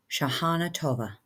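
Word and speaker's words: Shanah Tovah: Shahana Tova.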